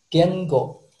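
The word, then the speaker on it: 言語: Kalau bahasa Jepang, Bahasa Jepang, cara bacanya gengo.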